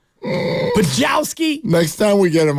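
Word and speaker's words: Podziemski: Pajemski. Poughkeepsie Kid. Yeah, he said it wrong. Poughkeepsie Kid. Brennan mispronounced his own last name. Pajowski.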